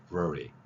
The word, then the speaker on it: February: 그래서 February, ver 발음을 하는 거죠. ver 발음, February.